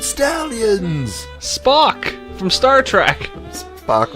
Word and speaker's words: Spock: Spock rhymes with The Rock.